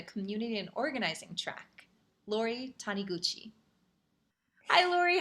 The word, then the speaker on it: Taniguchi: it can you say it for me sure taniguchi honeygucci hanayuchi lori can you tell us a